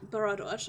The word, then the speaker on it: Bharadwaj: Judging by the data, Miss Bharadwaj, I keep putting an extra syllable into her name, Bharadwaj and her crew were trying to create a herbicide to fight off the invasive vines.